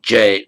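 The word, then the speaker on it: जय: In modern Hindi said jay, pronounced jay, not jaya but jay, jai hind.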